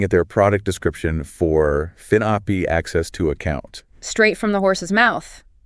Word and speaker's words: finAPI: It's spelled FINAPI. Right. But it's pronounced finAPI as one word.